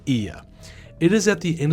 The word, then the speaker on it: Oia: First, this port is so much better than Oia. I mean, Ia. Yes, it's pronounced Ia.